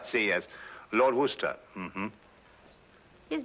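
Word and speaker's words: Worcester: else too doc but it's spelled w r c e s t e r where sister oh yes I see yes Lord Worster mhm his M be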